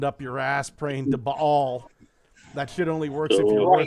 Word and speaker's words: Baal: Baal. Yeah. That's the correct way to say that.